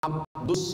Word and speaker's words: Abdus Somad: awak yang salah baca tulisannya Abdul Somad tapi membacanya adalah Abdus jadi nama ini dimintakan